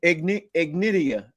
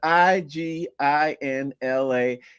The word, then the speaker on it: Iginla: With me in hockey, Jerome Ignitia. I can't even pronounce his last name right, but it's Iginla.